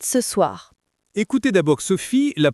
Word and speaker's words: soir: Mais attention à la prononciation de soir, c'est pas soir, c'est soir. Un peu comme dans boire, ça donne je mange des pâtes ce soir.